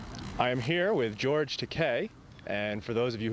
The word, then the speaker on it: Takei: einstein and that but it's pronounced like in spanish e is given the